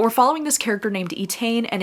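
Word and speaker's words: Étaín: we're following this girl I think her name is pronounced etan it's e t a i n there's a lot of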